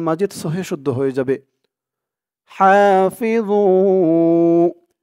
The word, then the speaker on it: حافظوا: হাফিযু, ভু, ওর উচ্চারণটা খেয়াল করবেন। ভু একেবারে জু বলা যাবে না, জু বললে কিন্তু এই ওর উপরে জার উচ্চারণটা চলে আসবে। যেহেতু এখানে জ, তাই জর উচ্চারণটাই করতে হবে।